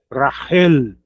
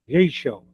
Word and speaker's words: Rachel: Eles falam racial, rachel, Rachel, né? Eles pronunciam o ch como como no do modo inglês que é t, né? Eh, t eles pronunciam assim. E e pro português é ch mesmo, né?